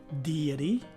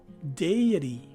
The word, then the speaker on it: deity: e in both variations the letter t takes a d sound as in delta and the last letter e is a long e so this word is pronounced as either deity or deity again deity or deity